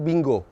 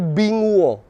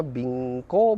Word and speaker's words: Binguo: walaupun Namanya aneh ya saya pikir namanya tuh akan Bingo bo bo kalau kata Aura kayak nama anjing gitu tapi tidak tidak ee Bingo tapi binguo dan kata ee netizen itu bacanya bingko binggo gitu ya Eh tapi maknanya bagus